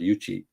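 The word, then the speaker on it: Yuqi: is uh yuchi uh Yuki is is why you Qi but you know so people call her Yuki but are in in Chinese is pronounced yuchi and there's a girl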